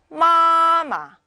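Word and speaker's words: 妈妈: 자, 다음에 마마.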